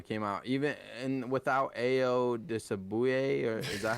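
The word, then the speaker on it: Ayo Dosunmu: Illinois came out even and without Ayo Disabuye, or is that how you pronounce it? I don't Io know. I don't know. Desunmu. Ayo Desumu.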